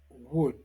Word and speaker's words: would: Déjà dit dans la leçon 12, nous répétons que le L ne se prononce pas dans could, should, would.